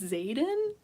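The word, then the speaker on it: Xaden: but this guy's name his name is Zaden it's spelled like this x a d n he did bad thing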